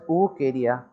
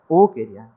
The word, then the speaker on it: Wuchereria: We have to pronounce it as Wuchereria. Okay. But the spelling should be Wuchereria. But you have to pronounce it as Wuchereria.